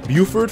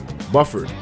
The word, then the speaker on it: Buford: this screen couple noodles no it's pronounced Buford fam oh Jay I didn't even realize that Buford really that's how it's pronounced a big Bufford oh Buford that makes more sense all right you